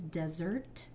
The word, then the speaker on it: desert: This word is desert, right? And the way we when we cover this up, it actually looks like this is an open syllable, which would be a long e, but it's not, right? It's e. So you might need to prompt for this one and say short sound.